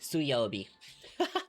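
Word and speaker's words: 水曜日: So I know it's this one and mizu must be changed obviously because different kanji are pronounced or the same kanji are pronounced differently in different words. This has to be suobi.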